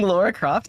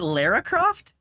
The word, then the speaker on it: Lara Croft: ls and how's it going welcome in I'm pronouncing Laura Croft is it Lara Croft oh I didn't know that so it's like